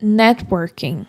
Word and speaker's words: networking: Outra palavra muito comum é networking.